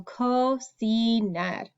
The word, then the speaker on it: cocinar: So our first letter C makes a k sound because it's C-O. The second letter C is followed by an E, an I in Espanol. So it makes the S sound. So cocinar. So it's a little tricky because there's two C's, but they make two different sounds.